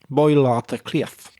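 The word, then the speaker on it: Baile Átha Cliath: pronunciation isn't so good, Dublin is pronounced Boilata Cliff. That's a bit of a mouthful. It doesn't sound very much like Dublin, does it?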